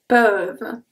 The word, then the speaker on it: peuvent: Peuvent. Peuvent. The last thing that I pronounce here is the V. Peuvent. I don't pronounce the E and the N and the T.